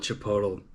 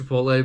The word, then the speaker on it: Chipotle: I call it Chipotle cuz I think it's funny. I know it's pronounced Chipotle, but like there's also like the super Mexican